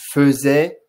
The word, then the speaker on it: faisait: faisait haïé euh faisait on dit faisait ça c'est la grosse erreur de beaucoup d'élèves lorsqu'on aborde le verbe